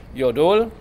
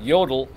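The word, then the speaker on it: 여덟: GUP is number seven your duel against the again the accent is on the second syllable it's not yodel your little a you okay that's the yodel so we're gonna do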